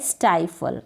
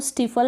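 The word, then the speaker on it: stifle: Next है स्टाइफल। अब इसको स्टीफल ना पढ़े, मैंने यहाँ पर प्रोनाउंसिएशन दे रखा है, स्टाइफल पढ़ेंगे, STI स्टाई FLE फल, स्टाई और फल।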